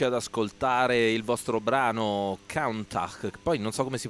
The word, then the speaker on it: Countach: Ok, allora, prima di andarci ad ascoltare il vostro brano Countach, poi non so come si pronuncia, magari mi aiuterà. Countach.